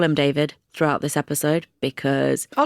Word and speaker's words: D4VD: The car belonged to Gen X idol and singer-songwriter D4VD, pronounced David. Henry Zabrowski says DeForvid, and I can't get it out of my head.